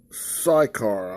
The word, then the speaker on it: Sychar: it says in the king james version then cometh he to a city of samaria which is called psychar i think's where you spell it yes or say it s-y-c-h-a-r near to the parcel